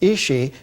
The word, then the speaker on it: Ishi: man but in the Yana language uh it's pronounced isi so isi came into crobar's life in 1961